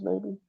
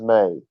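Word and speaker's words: μή: The first word in Greek is May, like the month of May, but it's spelled M-E-I, not M-A-Y.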